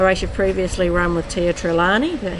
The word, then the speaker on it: Tia Trelawney: A race you've previously run with Tia Trelawney. Is that how you say it? Tia Trelawney, yeah.